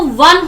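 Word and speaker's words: one: क्योंकि जब प्रोनाउंस करते हैं तो वो वन होता है और वन में व का साउंड आ रहा है। व इज नॉट अ वोवल, स्वर नहीं है, व्यंजन है।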